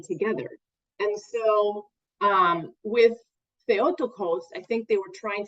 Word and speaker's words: Theotokos: key phrase or title was theotokos or theotoka sometimes people pronounce it probably incorrectly uh which means um